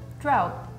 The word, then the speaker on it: drought: drought drought drought yeah this is like probably the hardest sound when you're learning English like the o u g h anything is always difficult like thorough or thought